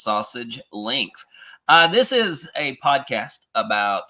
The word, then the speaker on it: SASG Links: Yes, it is pronounced sausage links.